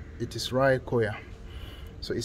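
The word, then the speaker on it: Raekoja: remember english-speaking people that in this part of the world the letter j is pronounced as y so this is not ray koja it is rai khoya so it says town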